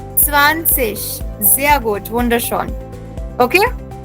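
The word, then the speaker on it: zwanzig: एंड 20 remember Z आई जी is pronounced as what जिश सो 20 becomes ज्या good Puneet 20 becomes स्वानशिष स्वानशिष जिया good wonder shot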